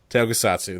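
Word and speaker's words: tokusatsu: uh type of movie I can't pronounce the actual name tokusatu tokusatu there you go there you did it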